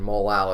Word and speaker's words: molal: I emphasize the A and just pronounce it molal so that people know exactly what the word is, because if you pronounce